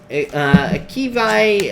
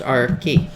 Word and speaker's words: Arki: Kivai, I hope I said your name right. Thank you for the super chat. Oh, you say here, Arki. There you go. My name is pronounced Arki.